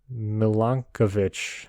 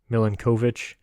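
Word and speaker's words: Milankovitch: easier turn to pronounce I don't think you pronounce that right at all I definitely did not uh you want to give it a shot it's m-i-l-a-n-k-o-v-i-t-c-h Millen kovich Self Service orbital Cycles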